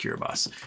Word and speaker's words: Kiribati: So yeah, this is the coral inside Kiribati. So you're looking at the coral inside of the lagoon. It's pretty crazy looking. Pretty crazy looking indeed. And it's spelled Kiribati, but it's actually pronounced Kiribati.